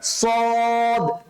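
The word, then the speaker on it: ص: basically কিভাবে করবো আমরা সদ স মোটা করে সদ স এভাবে করে স এভাবে উচ্চারণ করবেন হ্যাঁ স সদ সদ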